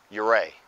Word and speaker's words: Ouray: we're not exactly sure how the man himself pronounced his name but this town is called Ouray this town is named after an Arapaho chief